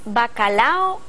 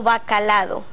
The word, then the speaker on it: bacalao: originales el pz comestible es bacalao o bacalado por ultracorrección Decimos lo segundo bacalado pronunciamos abogado Terminando acabado soldado por eso suponemos incorrecto bacalao Okay y vamos a